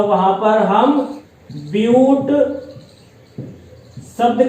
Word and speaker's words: but: तो वहां पर हम ब्यूट शब्द का इस्तेमाल करेंगे, इंग्लिश में BUT। आप इसको बट का उच्चारण नहीं दीजिएगा, बट कहेंगे गलत होगा, आप यहां पर इसको ब्यूट बोलेंगे।